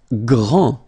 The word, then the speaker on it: grand: Grand. Final day not pronounced. Okay, G-R, gr, gr, gr. And then the nasal en, grand.